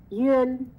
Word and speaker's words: yun: Yun. You know, when you say Yun, the beginning is that Yu.